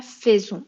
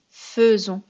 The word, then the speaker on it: faisons: Mais là, on ne dit pas faisons, on dit faisons.